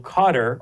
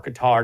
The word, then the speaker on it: Qatar: Uh, as the US and other Western countries continue to rely on Qatar or Qatar, depending how you say it, to broker a